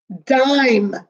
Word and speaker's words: dime: But you have to put the silent E. If you do not put it, it would be dim.